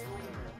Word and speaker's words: Voldemort: You're saying it wrong, it's Voldemort.